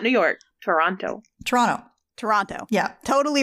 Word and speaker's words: Toronto: I think it's just Toronto Toronto Canadians don't pronounce the T I was kind of